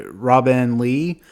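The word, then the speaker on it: Robinne Lee: novel was written by Robin Lee it's spelled r o b i n n e I guess that's just another way of saying Robin but yeah so it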